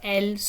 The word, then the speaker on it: elles: And then elle also has a silent S at the end, and that is a group of females. So elles sont.